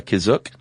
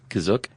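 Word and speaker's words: Kashyyyk: or Wiki Planet C is that how you say kazuk that's how it's pronounced in the episode the holiday special but it's also pronounced different ways other times to pronounce that cashier gotta spell it k-a-s-h-y-y-y-k yeah which I mean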